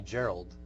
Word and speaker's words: Gerald: her Marge and me Gerald so her and I kind of bonded that moment I'm like hard G hard G and I think her